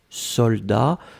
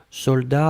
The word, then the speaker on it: soldat: Je regarde, vous l'avez bien écrit, attention save the best, soldat avec un T final, on ne prononce pas le T, mais logiquement il devrait être là, d'accord? Donc soldat, S-O-L-D-A-T.